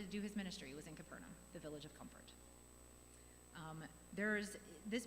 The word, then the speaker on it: Capernaum: Capernaum, is how it's pronounced in Hebrew.